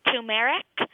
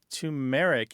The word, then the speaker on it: turmeric: The other night at dinner, my mom was making something, and she said, I'm using turmeric, and I always heard it turmeric, so I said she was wrong.